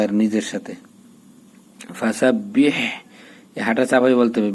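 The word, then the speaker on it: فَسَبِّحْ: ফাজার ফা, সিন বাজার সাব, ফাসাব, বাহাজের বিহ, ফাসাবিহ, এই যে তাসদিদ দুইবার উচ্চারণ করতে হবে, ঠিক আছে। এর আগেরটার সাথে আর এর পরেরটার সাথে বা এর নিজের সাথে। ফাসাবিহ, এই হাঁটা চাপাই বলতে হবে।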